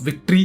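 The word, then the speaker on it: Victhor: का गॉड है और इसके नाम का स्पेलिंग है वी आई सी टी एच ओ आर थॉर तो यह सुनके हमारा यह कहता है कि नहीं मेरा नाम ्टर है और मैं इंसान हूं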